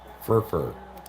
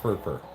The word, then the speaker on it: FRFR: I prefer to think of it as your last name, spelled FRFR. Furfur. Pronounced Furfur.